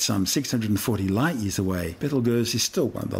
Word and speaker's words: Betelgeuse: Interestingly, both the name Betelgeuse and its more common pronunciation of Betelgeuse are both tortured mispronunciations of its original Arabic name, Yad al-Jaza or Ibtal Yazi, meaning the hand of the big man being Orion the Hunter.